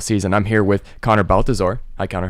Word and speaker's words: Balthazor: of the NFL season I'm here with Connor Balthazar I can't how are you I'm good cuz I pronounced your name okay okay good and I'm